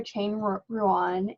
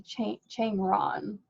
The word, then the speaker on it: Chang Ruan: He is out of, I pronounced his name wrong. It's actually Chang Ron. No, yeah, Dr. Ron. We pronounced his name wrong for like a year, and then he finally told us Dr. Ron.